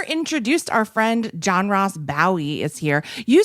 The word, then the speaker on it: Bowie: It's the appropriate, the traditional Scottish pronunciation is Bowie. Okay. And so you think and David Bowie was wrong?